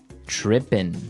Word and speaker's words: tripping: As you notice, it's trippin'. It doesn't have the G at the end, which isn't really grammatically correct, but that's kind of the way it's pronounced. Yeah, we would never say the G.